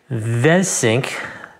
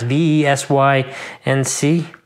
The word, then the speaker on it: VeSync: So they have their own VeSync. It's kind of hard to pronounce. V-E-S-Y-N-C.